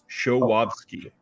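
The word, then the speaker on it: Żuławski: The guy's name is actually pronounced Andrzej Showowski.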